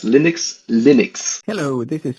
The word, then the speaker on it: Linux: and I pronounce Linux Linux hello this is Linux toal and I pronounce Linux as Linux like it's lus but you pronoun it Linux cuz there was that